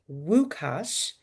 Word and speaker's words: Łukasz: His name is pronounced Wukash, and we always encourage questions and interaction, Krista, Steve, and the family guests.